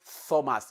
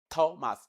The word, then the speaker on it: Thomas: It is not the dental sound that you are producing there. It is the alveolar sound, the ta, the voiceless alveolar plosive, ta. So it is not Thomas, it is Thomas, like you have in tell.